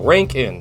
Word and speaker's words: Rankine: kind scale pardon me the ranked in scale ranking that's how you pronounce a Rankine scale which